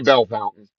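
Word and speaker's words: Bellefontaine: There's a town north uh west of or east where I was born that's spelled Belf Fontaine. Let's say Bell Fountain.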